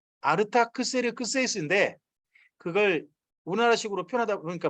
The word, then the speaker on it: 아르타크세르크세이스: 이거 원래 말은 아르타크세르크세이스입니다. 아르타크세르크세이스인데 그걸 우리나라식으로 표현하다 보니까 뭐 중국어로 왔다가 다시 우리나라 오다 보니까 너무 좀 짧게 읽었어요. 아르타크세르크세이스.